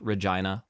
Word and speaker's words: Regina: It's pronounced Regina, like vagina.